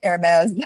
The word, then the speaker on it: Hermes: I was pronouncing it Hermes, the Hermes Society. Like designer, yeah.